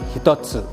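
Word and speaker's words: 一つ: Kemudian kanji mempunyai cara baca yang saya katakan sebelumnya tadi, bahwasanya cara baca kungyomi dari kanji ini, kanji 1 dibaca dengan hitotsu, sedangkan cara baca ongyomi ini dibaca dengan ichi atau ich.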